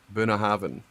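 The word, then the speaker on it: Bunnahabhain: BH so you know the BH in binhaven is a v so Bina Haven perfect the actual the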